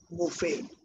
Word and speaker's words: Buffett: Warren Buffett. The T is silent.